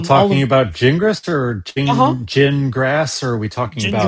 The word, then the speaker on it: Gingras: Wait, Especially are if we still all talking of about Jingris or Gingras, or are we talking about Gingras.